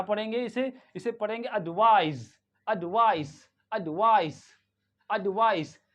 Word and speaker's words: advice: इसे इसे पढ़ेंगे एडवाइज एडवाइस एडवाइस एडवाइस American में भी एडवाइस पढ़ते हैं और ब्रिटिश में भी एडवाइस पढ़ते दोनों में ही कोई फर्क नहीं है ओके और यहां